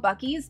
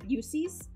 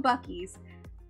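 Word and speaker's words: Buc-ee's: rest stops of all rest stops it's called bies but I'm not going to lie when I first moved here I pronounced it bues because it's spelled bu U CC e s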